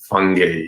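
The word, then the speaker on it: Fangy: Uh growing up with the last name fan a n g y and it to be pronounced fungi which is not much better.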